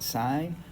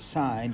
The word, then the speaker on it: sin: And we got sine, cosine, and tangent. But here's their abbreviations, and so we don't pronounce this sin. We still pronounce it sine, just like we pronounce this Mr. and not Mur.